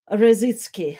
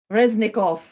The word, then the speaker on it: Reznikov: station was expressed by ministry of defense alexei rozitsky rezitzkov sorry my pronunciation is reznikov yes alexis alexi reznikov and maybe let's uh